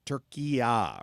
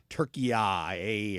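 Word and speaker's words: Türkiye: And that if that's more the way they pronounce it in Turkish. And they wanted the announcers in the U.S. to start calling it Turkiya or Turkiya. Or what is it, Drew? Am I saying it wrong? I don't know, because it's different if you get a British announcer versus U.S. I don't know. They've spelled it Turkiya instead of just calling it Turkey.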